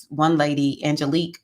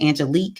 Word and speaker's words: Angelique: about candle releasing with Angelique. It looks like angelic, but she pronounces it Angelique or Angelique, something like that.